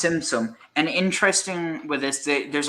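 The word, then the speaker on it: Tzimtzum: But then he has, like, I think it says here that apparently after that you have Zinzum. I can't pronounce that. The idea of the contraction. So it's Simsum.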